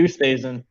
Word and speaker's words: Oosthuizen: Hadwin, Reed, Luis Oosthuizen. Did I pronounce that correctly? Yeah, Louis Oosthuizen.